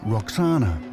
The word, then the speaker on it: Roxana: hint in her name the Greeks pronounced it Roxana but it may originally have been vakana which would mean she